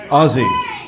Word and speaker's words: Aussies: Aussies.